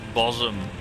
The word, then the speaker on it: Bosham: There's one near me which kept coming up this week, which is, it's pronounced Bosom, but it's spelled Bosham for some reason.